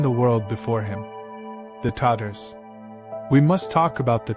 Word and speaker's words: Tatar: When medieval Europeans spoke in terror of the Tatar hordes, mispronouncing the name as Tartars, conflating it with Tartarus, the Greek hell, as if these warriors